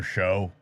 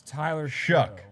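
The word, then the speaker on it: Shough: I thought it was Tyler Shuck. Tyler Shuck. Shuck like CK.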